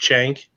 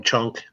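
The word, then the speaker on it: Cenk: is cen K and they could pronounce it's pronounced shank shank I was like more like sang to me and then I have a lot of people I've heard they call him chunk so is one of the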